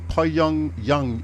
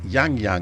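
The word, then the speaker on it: Yangyang: well it's not that you pronounce it po yung yung it's it's yang yang yeah that's all I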